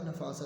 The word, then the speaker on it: نفاست: نون کے اوپر زبر ہے، فے کے اوپر بھی زبر ہے، سین کے اوپر زبر ہے اور تے پہ جزم کی علامت ہے، تو لفظ کیا بنے گا؟ نفاست۔ اس کے آگے 3